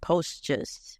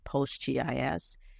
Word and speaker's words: PostGIS: There's the way that I normally pronounce it, PostGIS, and for people familiar with geographic information systems, they might call it PostGIS.